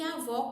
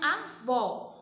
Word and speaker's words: avó: diferença você consegue perceber nas palavras avô e avó quando a pronúncia tia não colocou aqui no quarto porque